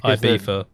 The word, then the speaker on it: Ibiza: you have that the it's beefa yeah it's because um the f it's the way they pronounce things in in catalan where they say like